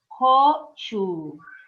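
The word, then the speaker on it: 고추: A terceira palavra que eu coloquei foi pimenta, que seria gochu. Vocês repararam que o CH, eu estou soltando o ar nele, porque ele é aspirado, então seria gochu.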